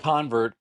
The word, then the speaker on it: CONVERT: So it's pronounced convert. The whole series is the convert series. Convert 80 plus convert 2 convert 8. The reason is because you will become a convert once you hear our conversion.